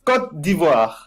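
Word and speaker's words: Côte d'Ivoire: now you've heard us you've heard us unfortunately saying iory coast and not using the correct pronunciation at all could you for the viewers at home give us the beautiful correct pronunciation the the the good pronunciation is C div beautiful there you go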